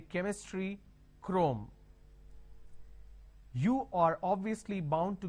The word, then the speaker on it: Chrome: Now here, this is CHROME. Can I say Chrome, like Google Chrome? No. The pronunciation is Google Chrome.